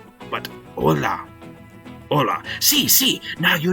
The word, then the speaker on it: hola: little bit with pronunciation I know it's spelled with an H but in Spanish we pronounce the h sound with a ha or Mak an Ola not haa but Ola Ola see see now